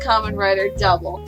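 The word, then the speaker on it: Kamen Rider W: It's pronounced Kamen Rider Double.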